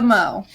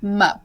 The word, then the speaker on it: Mo: I like you most your name is one syllable how do you spell the mo holy wait mo you just put your lips together and mo are we all quite